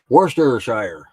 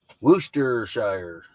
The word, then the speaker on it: Worcestershire: Worcestershire. There's an R-E-R in that. It ain't Worcestershire. Doesn't mean you say it though.